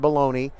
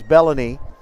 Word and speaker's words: Bellany: trailing bologna i know better the pa guy has not been briefed on how to say treylin's last name it is not baloney it is bellany and we said it wrong